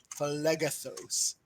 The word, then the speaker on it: Phlegethos: Phlegethos. Yes, that's how it's pronounced.